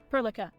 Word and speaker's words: Perlica: Okay, so we got another Perlica? Perlisa? Perlica. Perlica is how you say her name.